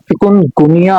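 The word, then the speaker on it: चिकनगुनिया: pronounce प जाए तो इसकी सही प्रोनंसिएशन है चिकुन गुनिया चिकन गुनिया नहीं है और ये मुर्गियों के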